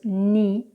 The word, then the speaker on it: knee: Whenever you have K and N together, the K is not pronounced, like in the words ni or no. It's not kni, it's not kno, it's ni and no.